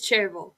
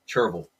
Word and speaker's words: Cherryville: It's spelled Cherryville, but everyone calls it Cherville. Cherville.